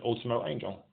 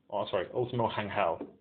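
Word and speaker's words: Último Ángel: Terror Jr., Torino, and Ultimo Angel. Ultimo Hangel would be the correct pronunciation of that.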